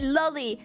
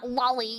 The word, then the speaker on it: loli: llies all right and by the way I pronounce it LLY like Lolita which is the book that the terum originates from all right and anybody who says uh Lolly you know like dizzy here is cringe but